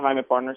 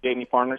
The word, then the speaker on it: Jaime Partners: Is it actually Jaime Partners? Is that correct? Yeah, I like to call it Jaime Partners, yes. People call it Jamie Partners sometimes.